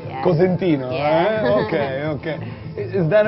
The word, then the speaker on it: Cosentino: How do people pronounce it in the States? Like Constantino Constantino. or Corsentino, Right. and then they spell it like Consentino, and like All right. they always fuck it up. So I was like, it's Cosentino, it's spelled this way, and then we were like, that's boring.